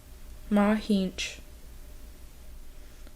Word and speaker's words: Mahic: the garden, and then actually hear the Ho-Chunk pronunciations of the plants in the garden. Milkweed. Mahinch.